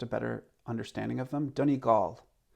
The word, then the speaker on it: Donegal: better understanding of them dhoni gaul a lot of north americans say don eagle dunnigal comes from the irish word duna fortress of the foreigners so here i come